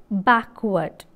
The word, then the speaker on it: backward: in the word backward backward a and r the two letters give out the vowel sound a and r backward r is silent in the word development